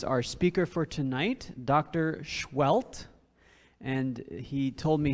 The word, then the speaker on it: Sehuelt: And he told me how to pronounce his name is you put your finger in front of your lips like shh, and then like you hit yourself and get a welt. Sehuelt.